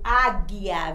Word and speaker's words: águia: RR, bairro, o GU, águia. Veja que o águia, a gente não pronuncia o G, né? Águia, não pronuncia, aliás, não pronuncia o U, desculpe, não pronuncia o U, pronuncia o G.